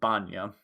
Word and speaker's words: Banya: say your name again bonya walk over to banya and say hey like tanya with a bee is there any kind